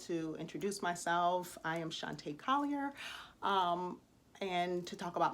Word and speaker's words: Shantae: A lot of people are like, oh, that's how you pronounce your name, Shantae. Yes, Sean and then Tay with a long A at the end.